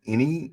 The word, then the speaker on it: Eny: Because I fell in love with it, because my show's called UBU, and his show is called Any is spelled ENY.